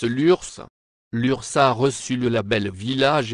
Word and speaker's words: Lurs: de l'URSS et lurcien nota bene on prononce l'ours l'urssa reçu le label